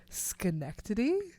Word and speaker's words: Schenectady: And then I'll show them the name of the town that I'm from, Schenectady. It does not look like how it is pronounced.